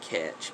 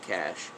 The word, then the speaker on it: cache: Some people call it catch, but I mean the correct pronunciation from what I can understand and find is cache, just like cash money.